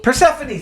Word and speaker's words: Persephone: I have always not known how to pronounce Persephone? Persephone, thank you.